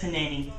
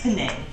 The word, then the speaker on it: Panay: It's Panani. No, it's not. I don't know how to say it. Okay. Your name's not Panini. It's Panay.